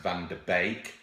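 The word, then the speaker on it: van de Beek: I think I think his name is pronounced van de baked sounds a bit like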